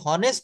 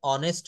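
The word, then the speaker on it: honest: কিন্তু বলা হচ্ছে my father was এান অনেস্ট doctor. অর্থাৎ এইচ এর উচ্চারণ হ না হয়ে যদি অ হয় তাহলে তার পূর্বে এন বসবে।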